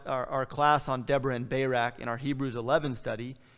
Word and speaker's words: Barak: And she is the one who calls Barak. By the way, this is probably something closer to Deborah and Barak.